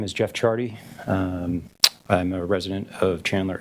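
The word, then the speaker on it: Ciardi: Rapham, state calls Jeff Chardy, and that is pronounced spelled C-I-A-R-D-I.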